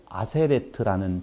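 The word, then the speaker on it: עֲשֶׂרֶת: 사전에서는 에세르로 나오고 여기 문장에서는 아세레트로 나온다고요.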